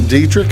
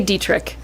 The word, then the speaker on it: Dieterich: My guest today is Brittny Gipson, and she is the village clerk up in Dieterich, as well as the economic development coordinator up in Dieterich.